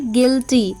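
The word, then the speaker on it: guilty: ई गीज जी यू आई एल टी वाई गिल्टी बी यू आई एल डी आई एन जी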